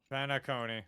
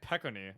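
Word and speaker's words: Penacony: feels quite similar to pentacon penacon okay thank you it's literally pronounced the way it looks I'm stupid for some reason I kept calling it peony I kept like not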